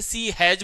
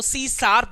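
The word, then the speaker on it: C#: काफी लोग इसे सी हैज बोलते हैं, लेकिन इसका जब प्रोनाउंसिएशन किया जाता है तो सी शार्प बोला, हैज जो है वो शार्प के नाम से जाना जाता है।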